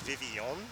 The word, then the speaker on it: Vivillon: I think I saw like the pronunciation is Vivillon, but I've never in my life heard it pronounced like that, so Vivillon.